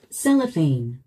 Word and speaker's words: Cellophane: Cellophane. Cellophane. Cellophane. Cellophane. Cellophane. 우리 한국인들은 이 단어를 셀로판이라고 부릅니다. 그런데 원어민들은요? Cellophane. Cellophane. 스트레스가 맨 앞에 있습니다.